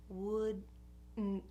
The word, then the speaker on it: wouldn't: I'm just going to keep it there and block the air in my throat, and that's going to be my version of a T sound at the end of this word.